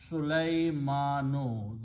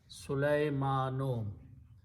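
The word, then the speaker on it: سليمانُ: The word is Sulaymanu. The original sound of the word is Sulayma, and the last letter noon has a pesh or a dhamma. Sulaymanu.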